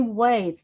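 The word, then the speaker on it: 輪: I would like to introduce here that circle is also pronounced as wa in Japanese.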